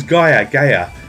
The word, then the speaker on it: Gaia: So this is Gaia, G-I-A-A, how it's pronounced, for those of you that don't know.